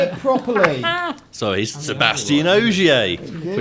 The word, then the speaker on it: Ogier: Sebastian Ogier. You even got the name in the window. Say it properly. Sorry, he's Sebastian Ogier.